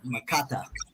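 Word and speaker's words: Makkata: show them that in Arabic and let them pronounce that word in Arabic the the word in Arabic is m-a-k-k-a-t-a makata let's pull it down uh there we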